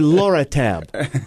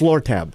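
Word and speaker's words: Lortab: any of that perad daral it was actually Laura tab I know it's pronounced I I know it's it's lur tab but Laura Laura L tab uh yeah okay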